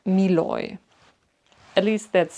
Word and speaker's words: Moynat: So, I learned that this brand is pronounced Miloy.